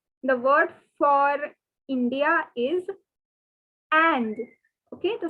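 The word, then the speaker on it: Inde: word for india is and okay the spelling is i n d e the pronunciation is and like um in english we have the word and like uh great and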